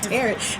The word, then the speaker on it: tarot: But it's spelled like carrot, so I totally understood why you confused it.